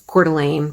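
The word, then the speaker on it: Coeur d'Alene: um the Idaho um it's cordelan for those of you who don't know how to pronounce it I went to school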